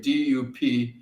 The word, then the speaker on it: Dupuis: Dupuis is my last name, Dupuis. First name, 1 T, rhymes with darn it.